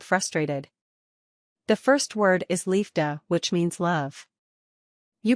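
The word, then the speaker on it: liefde: it like this the first part is Lee as in Lee then comes EF the comes with Lee but the F you pronounce like you pronounce f the de is easy just pronounce it like Doug Sacra canar is a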